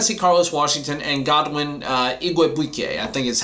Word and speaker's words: Igwebuike: Then you're going to see Carlos Washington and Godwin Igwebuike, I think is how you say his name. I finally learned how to pronounce that one.